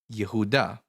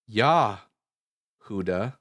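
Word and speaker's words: יהודה: So in Hebrew Judah is spelled Yudhe Vallet hey which in Hebrew which is actually pronounced as oh yehuda.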